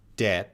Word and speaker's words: debt: So in a word like this word, debt, that's pronounced debt. That B is silent. We don't say that B. That's going to sound like debt.